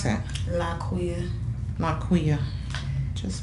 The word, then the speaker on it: Liquiya: Laquiya. Laquiya. Just like it sounds. Just like it spells.